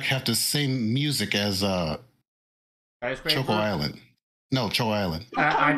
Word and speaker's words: Choco: Coco. It's pronounced Choco like chocolate.